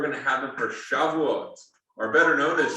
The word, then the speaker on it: Shavuot: We're going to have them for Shavuot, or better known as Shavuos. That's the difference of the Ashkenazi versus the Sephardi pronunciation. Okay. Yeah. Modern Hebrew uses the Sephardi, so Shavuot.